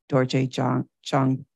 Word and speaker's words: Dorje Chang: teachings of His Holiness Dorje Chang. Is it Cheng or Chang? Dorje Chang, Buddha.